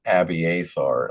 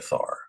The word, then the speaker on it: Abiathar: Abiar. Okay. So, I did not have the pronunciation of that correct.